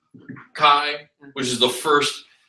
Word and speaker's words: chi: chi. This is the Greek letter X. Okay. Well, pronounced chi.